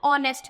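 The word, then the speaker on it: honest: तो यहां पे भी ऑनेस्ट में क्या हो जाता है ओ एच साइलेंट हो जाता है और हम पढ़ते हैं ऑनेस्ट में और ओ हमारा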